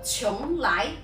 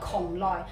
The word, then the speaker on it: 邛崃: 嗱，呢個地方位於四川，咁普通話讀邛崃，粵語讀邛崃。